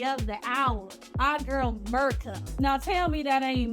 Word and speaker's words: Mirko: No, it's like Mirko. It's M-I-R-K-O. So like Mirko? Okay, we go with Mirko. All right, and then we have the lovely brown baddie of the hour, our girl Mirko.